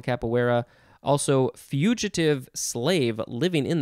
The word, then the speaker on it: capoeira: think just means head okay moving on to capoeira you could also just say capoeira c-a-p-o-e-i-r-a noun from 1945 a brazilian dance of